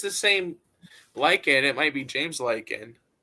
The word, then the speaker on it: Lycan: like a wolf. Oh, Lycan.